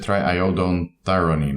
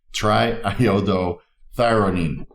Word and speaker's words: triiodothyronine: So I said triiodothyronine, right? That's incorrect. Triiodothyronine. Bottoms up.